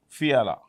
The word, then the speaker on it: Fiala: That's how you pronounce Fiala. P-E-T-R. Petra Fiala.